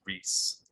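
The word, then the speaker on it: Ries: popular business book by eric i think it's pronounced reese r-i-e-s and he makes a very good case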